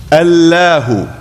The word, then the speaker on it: Allah: It is given tafkhim, which means emphasis. So that if we were to pronounce the word according to standard modes of Arabic pronunciation, we would say Allah, Allahu. But instead we say Allah, Allahu. And that change in diction is tafkhim, emphasis for the sake of reverence, emphasis to indicate the